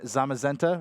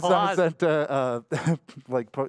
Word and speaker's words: Zamazenta: over here to Etchy with the Zacian and Zamazenta, right? Did I say it right? Yes, you did. I did. I said it right. Zacian and Zamazenta, Pokemon-themed Switch here.